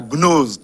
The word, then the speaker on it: Gnose: Si les téléspectateurs sont intéressés, ils n'ont qu'à chercher le livre de Raymond Ruyet, hein, La Gnose de Princeton. Gnose, ça s'écrit G-N-O-S-E.